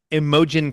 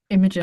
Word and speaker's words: Imogen: Second place, a name we brought up last week, Imogen. Imogen.